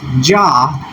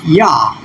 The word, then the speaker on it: Yah: is being used, but it's mistranslated as Jah, which is actually a transcription. It's mistranscribed. And so if we were to tap and go to the Hebrew to see what those original Hebrew letters are, we can see it here. It's just simple YH. And if we were to add the semivowel in there for a transcription, then we have Yah.